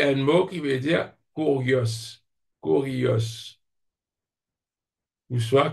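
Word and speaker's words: κύριος: kurios, kurios, ou soit kyrios. Parce qu'il ça U là moi prononce les UM dans grec, moi, parce qu'il dit pratiquement ça U français là, quoique elle la prononce comme un Y.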